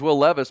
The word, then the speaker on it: Levis: can't look at it I know his name is Will Levis but it looks like will Levis will Levis spelled like the jeans man he should do